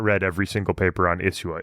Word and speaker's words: Isua: Real quick, pronunciation-wise, are you saying Isua or Isua? Because I've always said Isua, but I feel like I'm getting an SH sound. No, I think it's Isua. Isua or Isua. You'll hear it pronounced differently, but I would say Isua.